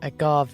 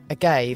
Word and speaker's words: agave: Oh, you said that the posh Spanish way, agave. I I always thought it was agave.